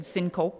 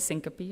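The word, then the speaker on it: syncope: I said syncop instead of syncopy.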